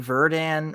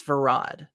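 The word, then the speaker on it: Verad: embarrassed by it varad why do I keep saying Verdan or verdant it's varad so varad Dax when he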